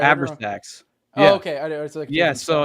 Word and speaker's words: Abrasax: Well, that's the Abraxas cult. I didn't know if but you were it's mispronouncing also it. Abrasax.